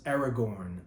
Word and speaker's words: Aragorn: coined that term again three syllable words that have accented first syllables L beneath Legolas Aragorn Arwen Saruman Erebor Moria